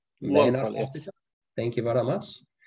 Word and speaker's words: Walsall: He works at, I'm not sure how to say it, Walsall? Walsall, yes.